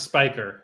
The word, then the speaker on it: Spiker: This is pronounced Spiker. So yeah, it's mispronounced many times.